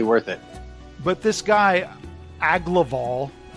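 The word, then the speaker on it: Agloval: But this guy, Aglaval, that's how I think his name is pronounced.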